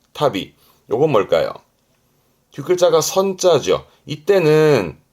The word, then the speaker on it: 旅: 발음은 타비, 여행을 의미하지만 혼자 두면 발음은 타비, 타비.